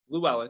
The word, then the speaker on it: Llewellyn: I think that for this year, Jalen Llewellyn, I'm pretty sure I'm pronouncing that correctly, correct? Jalen Llewellyn? Llewellyn, yeah.